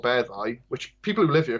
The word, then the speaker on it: Beddau: So like, I'm from a place called Beddau, which people who live here call it Bather, but depending on the context of the sentence and what comes before the word, Beddau can mutate to Meddau or Feddau.